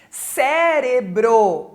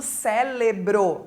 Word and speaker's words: cérebro: aqui do I né cérebro quantas pessoas a gente ouve falando célebro não é com l né é com R companhia com nh e